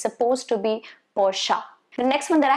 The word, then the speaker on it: Porsche: on the road it's not supposed to be porch or porsche it's supposed to be porsche the next one that i have for you